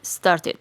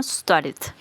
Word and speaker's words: started: d la vamos a pronunciar como ID entonces quedaría started o en inglés americano started recuerden esto cuando el verbo en infinitivo termina en el sonido como en este caso Start Start obviamente yo estoy exagerando